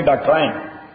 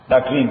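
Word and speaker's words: doctrine: کہا ڈاکٹرین آپ نیسیسٹی سوک دا لفظ پرونانس کے ڈاکٹرائن صحیح بیٹش والا ہی ڈاکٹرائن ہوئی دلتے ڈاکٹرین ہوئی سپیلنگ یہ ہو دے ڈی او سی ٹی آر آئی این ای صحیح دے انگریزی جب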